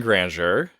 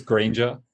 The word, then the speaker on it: Grainger: probably am am I it's slightly wrong it's Granger Granger okay is that better